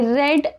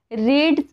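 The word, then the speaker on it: read: मी पुस्तक वाचलं आय रेड a book I रेड a book रीड रेड रेड रीड च spelling रीडच सेमच असेल सगळ्या ठिकाणी फक्त त्याचा प्रोनाऊन्स करायचं वेगळा आहे रेड करायचा सेकंड फॉर्म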